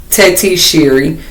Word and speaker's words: Tetisheri: Her name is pronounced Tetisheri, but my name is pretty much inspired by her name, Tetisheri.